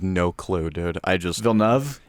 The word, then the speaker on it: Villeneuve: right i have no clue dude i just villenev it's different every time for me evan help me it's denis vilenov denis villeneuve okay i was close i was close the